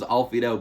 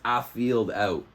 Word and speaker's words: Afield Out: I always thought it was Alfied Out, but it's Afield Out.